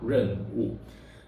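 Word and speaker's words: 壬午: In our example, the moon pillar is pronounced as Renwu. This is how we pronounce Renwu.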